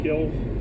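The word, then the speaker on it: kiln: place wear on a kill it's not supposed to hit the floor he calls the ovens which fire the China kills spelled k i l NS but Potters don't pronounce that n seven out of eight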